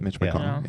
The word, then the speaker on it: McConnell: You said it right, Mitch McConnell.